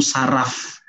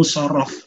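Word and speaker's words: صرف: kan pakai Oh shorof Akhirnya saya membacanya ilmu sharaf ilmu sharaf apa itu Wow ternyata saya salah baca ilmu sharaf ya bacanya ilmu shorof Oke Nah nanti di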